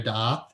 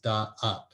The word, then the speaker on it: Da'at: Like, why is it 2 syllables, da'ath?